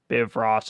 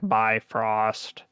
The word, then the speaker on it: Bifrost: because they call it it's not called biv ross it's like bifrost and this one but